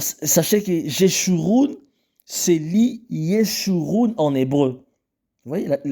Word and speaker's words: Jeshurun: Dans la lettre J est l'équivalent de la lettre hébraïque Y qui se prononce avec le son Y.